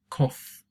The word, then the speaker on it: cough: illustrates as well so off-again cough is how you pronounce it instead of off like we saw with ruff for example so no it is the difference we say ruff but we say cough alright now it's quite